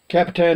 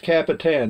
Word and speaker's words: Capitan: eggs anyway guys from Capitan New Mexican it's pronounced Capitan not capita mmm from Capitan New